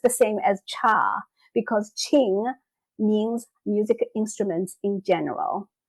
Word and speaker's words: Qin: Well, I am Ching and nobody can pronounce my first name, so don't feel bad about it.